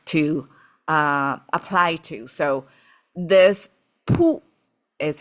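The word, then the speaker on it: 卜: So this pu is how it's pronounced.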